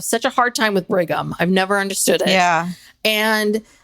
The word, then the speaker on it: Brigham: And so people would say brigham or bringing them. Yeah. Or they would want to put an n in there. Bring bring and or u m and I would say no. Bighgam spelled like bighgam young.